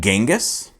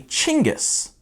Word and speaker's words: Genghis: you pronounce that name is it genghis is it jengus no you'd be wrong it's actually chingus this guy reached the